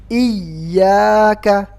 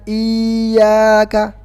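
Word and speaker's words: إِيَّاكَ: Seolah hamzanya dibaca panjang, padahal hamzanya dibaca pendek, cuman ya-nya ada tasydidnya. Jadi iyyaka, ingat, diayunkan. Dalam istilah ilmu tajwid namanya nabar. Iyyaka. Jadi bukan iyyaka. Ingat, diayunkan, suaranya ditekan. Iyyaka, bukan iyyaka.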